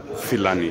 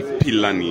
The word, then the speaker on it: Philani: She just told me that the right pronunciation for Philani is not Philani. It should be Philani. Oh, Philani.